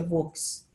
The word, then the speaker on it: Vosges: Eu vi a Vosges, parece que a pronúncia é Vosges, da Floresta Negra e dos Montes Urais.